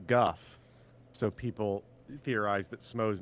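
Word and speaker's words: Gough: name is spoken and it's pronounced Guff so people theorize that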